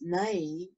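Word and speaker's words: ναί: it is g3483 it is spelled v-a-i and pronounced nay meaning even so yay yes truth verily surely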